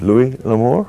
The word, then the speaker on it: Louis L'Amour: How do I pronounce it? Louis L'Amour?